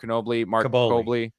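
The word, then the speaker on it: Kaboly: And our Mark I know how to pronounce his last name. Mark Caboli.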